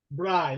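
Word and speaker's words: braai: r a a i Bri like this Bri that's it because it's aans word because that a a i in Africans is pronounced I Bri Bri that's the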